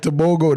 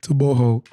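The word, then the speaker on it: Togo: like tooo yeah and I said it right I want to make sure I say it right to too they was getting on us for saying it like toogo they was getting on us for saying so I want to say tooo uh on camera but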